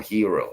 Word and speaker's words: gyros: yay they're they're they're they're spelled Gyros but they say them hero I had the I had the Greek restorant Lady say it so I didn't have to I didn't want to say it wrong in front of her they C and she called it a hero so um yeah that's